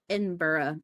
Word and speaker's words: Edinburgh: Is it Edinburgh or is it Edinburgh? Edinburgh. I think if you're pronouncing it properly.